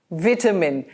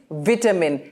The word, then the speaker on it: vitamin: Vitamin. The British pronunciation of the word is vitamin. And remember, the V is a dental sound. It has to bite your teeth. Vitamin. And the American pronunciation is vitamin.